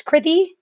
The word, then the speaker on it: Kriti: In terms of me, my name's Kriti. It rhymes with pithy.